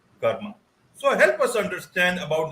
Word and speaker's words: karma: to see this word Karma there in the background in Hindi we call it Karm in English it's you know just the a get added because of the pronunciation Karma so help us understand